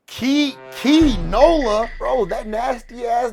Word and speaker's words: Kee Nola: weeks ago before this man, how do you pronounce bro's name? Key Nola.